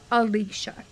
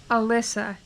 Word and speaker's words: Alicia: Luckily, I am listening to the audiobook, because looking at the name, I would call the main character Alicia. But apparently that's the Americanized pronunciation of the name. In this, it's pronounced Alyssa.